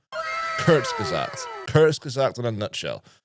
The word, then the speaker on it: Kurzgesagt: the time to go, right, how do I pronounce this name? Kurzgesagt.